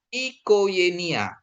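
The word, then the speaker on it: οικογένεια: Gama ketemu dengan Yota dia jadi Y. Nanti kan jadi bacanya dia ikoenia.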